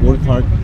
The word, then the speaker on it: Urquhart: That is how it's pronounced, Urquhart.